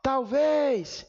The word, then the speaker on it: talvez: Ó, talvez! Vejam que em talvez a sílaba mais forte era a última e nem precisou de acento.